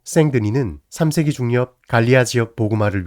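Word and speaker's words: Saint-Denis: 지역입니다 특히 파리북부에 위치한 생드니 성당 주보랑 부분에서 처음으로 고딕의 건축이 등장했습니다 생드니 성당은 프랑스 왕과의 무덤으로 기능하던 것으로 파리의 수호성인 디오니시우스에게 봉헌된 교회입니다 성 디오니시우스 프랑스 시 발음으로 생드니는 3세기 중엽 마리아 지역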